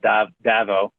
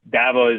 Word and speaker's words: DAVO: Yeah, the story you're mentioning, I've seen, you post a few times about Davo. Am I pronouncing that right? Davo? Yeah, it's Davo.